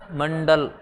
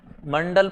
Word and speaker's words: मंडल: हाँ, मंडल, मंडल पढ़ेंगे। डा, ढा नहीं है, डा, डा। वो उसका उच्चारण थोड़ा भारी हो जाता है। ढा, जैसे पेड़, पेड़, पेड़। वो डा में उच्चारण होगा, डा में।